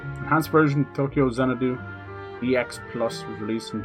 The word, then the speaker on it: Tokyo Xanadu: You pronounce the X as crossed in anime and Japanese games, right? Don't you? Oh, no, people just say Tokyo Xanadu.